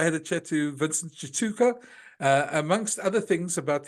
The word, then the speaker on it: Tshituka: former Ballroom dancer uh his name is Vincent Chuka did I pronounce it right Vince he actually did that's